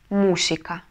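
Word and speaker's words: música: когда это может быть возьмем к примеру слово музыка по-испански будет мусика мусика но если мы напишем так как вы видите на экране то как тогда по логике по правилам мы должны будем прочитать Давайте рассуждать А у нас это гласная значит ударение мы должны поставить на предпоследний слог и получается что мы написали с вами слово не мусика А мусика мусика мы написали То есть получается мы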